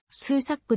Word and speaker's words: Susac: 所属西ノ洲ザックの発音は数サックであり日本語表記は数作がより原音に忠実である 2009 年の mlb